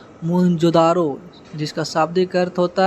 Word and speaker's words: मोहनजोदड़ो: इनमें से 2 नगर बहुत ही महत्वपूर्ण है, पंजाब का हड़प्पा, सिंधु का मोहनजोदड़ो। मूल उच्चारण मोहनजोदारो, जिसका शाब्दिक अर्थ होता है प्रेतों का टीला यानी मृतकों का टीला।